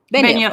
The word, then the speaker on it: Benioff: How do you pronounce that? Benioff.